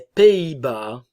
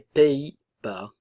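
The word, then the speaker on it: Pays-Bas: sono et norvégienne les Pays Bas les Pays Bas ok le son e i Pays Bas le S ne se prononce pas néerlandais la nasale en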